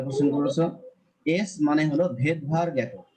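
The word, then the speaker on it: Svedberg: আর যখন আমরা এস কে উচ্চারণ করব তখন বলবো ভেদভার।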